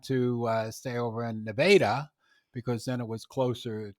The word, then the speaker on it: Nevada: the border in missouri which is spelled like nevada but you have to say nevada you have to say nevada because they go to the